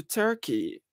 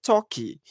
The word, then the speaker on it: Turkey: so i'm going to turkey instead of saying turkey said toki look at the mispronunciation there turkey and turkey instead of